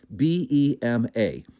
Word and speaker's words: Bema: It's spelled, if we were going to put it in English, B-E-M-A.